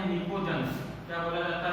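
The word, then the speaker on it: pnictogens: अच्छा, combinedly नाइट्रोजन की family को बोला जाता है निकोजेंस। क्या बोला जाता है ना? पी साइलेंट इसके अंदर एकदम पूरा निकोजेंस, है ना।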